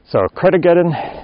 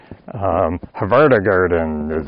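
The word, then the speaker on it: Hveragerði: So Kredegeden, that's the little town where my brother lives, Kredegeden. Not spelled anything like it. The spelling and the pronunciation are totally different. Havardagarden is how I used to pronounce it till my brother corrected me. And it's like, hey, I'm just pronouncing it the way it's spelled. And he said, nope, Kredegeden.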